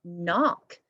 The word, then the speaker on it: knock: the nuh as in knock notice it's spelled with a k and an n that k is silent but notice that power